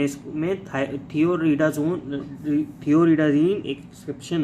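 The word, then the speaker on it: Thioridazine: ये थियोडाजीन नहीं है, थियोरिडाजीन है, याद रखना, थियोरिडाजीन, थोड़ा सा स्पेलिंग मिस्टेक हो गया।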